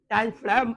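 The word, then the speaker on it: diaphragm: इसलिए सुनिए, डायफ्राम कहते हैं, जी को साइलेंट मान के चलते हैं।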